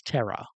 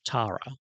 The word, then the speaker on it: Tara: So, uh, like for example, Tara, Tara, in America is terror, which is like terrifying, but she's Tara in Australia.